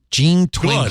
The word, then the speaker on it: Jean Twenge: How do you pronounce that? Oh, no. I didn't like her. Jean Twenge.